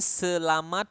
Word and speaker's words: selamat: letter as it is Selamat pagi and make to pronounce the T Oke the consonant at the end of any Words Ok you need to make it clear like selamat not selama selama means something else By